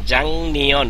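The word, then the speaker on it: 작년: আর যখন হবে নিয়ন তখন এই গিয়কের পরে এই গিয়কের পরে নিয়ন আসলে গিয়কের উচ্চারণ অং হবে, উচ্চারণ হবে জাং নিয়ন।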